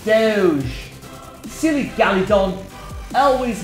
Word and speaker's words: Doge: Why do you call it doggy when it's Doge?